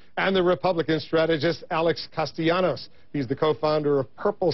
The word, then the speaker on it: Castellanos: the Republican strategist Alex castanos he's the co-founder of purple strategies of bipartisan Communications firm I know a lot of folks like to say castalanos it's castanos is that correct exactly especially when we're